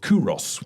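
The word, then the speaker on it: Qoros: There was another brand called Kuros, which was another one. Sounds like Oros. Yeah, it sounds like Oros, but it's spelled Q.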